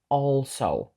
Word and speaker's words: also: увагу на слово also тому що перша літера a не читається як е і також не читається як Ей вона читається як O also далі слово lives ми